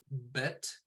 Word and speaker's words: bet: is a silent letter bet is pronounced as in box vet is pronounced as in volley okay and then we're